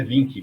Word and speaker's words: Wink: É o Wink que fala, né, que pronuncia. É Vink, com o som de V.